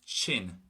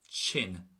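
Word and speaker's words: tinn: But the word for sick is going to be chin, chin. So almost like a CH pronunciation.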